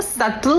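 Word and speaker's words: subtle: अरे बाबा वो सटल होता है। इट्स सटल एस यू बी B silent होता है।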